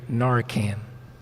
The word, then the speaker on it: Narcan: right so there's questions will park rangers carry Narcan you pronounce it just right all right um and